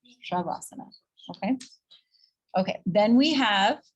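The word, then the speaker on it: शवासन: The very last pose we do, you'll often see people say, hear them say savasana, savasana. That's incorrect. It's shavasana, shavasana, okay?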